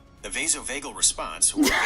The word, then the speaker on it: vasovagal: vassel vagel Does it even know the vasovagal response or synopy is the most common type of fainting syncopy.